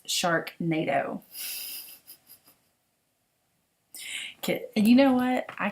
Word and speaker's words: Sharknado: and i apologize um i am mispronounced the shark nato kit i said sharkadoo i don't watch it i just thought it was cool and it's sharknado and you know what